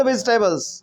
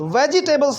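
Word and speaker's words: vegetables: आई कैन कट द वेजिटेबल्स है ना आई कैन कट द वेजिटेबल्स वेजिटेबल्स नहीं बोलना है वेजिटेबल्स वेजिटेबल्स ऐसा करके तो भी टेबल्स नहीं बोलना वेजटेबल्स वेटेबल होता है आई कैन कट द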